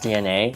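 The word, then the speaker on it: DeNA: I think it's it's cuz it's spelled D E N A so I I'm based on what are capitalized I assume as pronounced DNA the the mobile company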